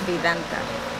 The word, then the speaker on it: Vidanta: Vidanta.